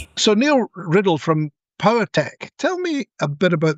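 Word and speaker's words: PauaTech: Anyway, he now has a company called Power Tech. Now, it sounds like power tech, which is it's a play on the the word, but it's spelled P A U A tech.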